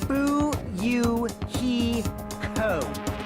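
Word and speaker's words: Fuyuhiko: My first name is pronounced buyou he co.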